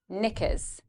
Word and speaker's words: knickers: Fit, knickers, knickers. Now, in the next part of the word, in the second syllable, we have again schwa, and you're going to go through this very quickly. Knickers.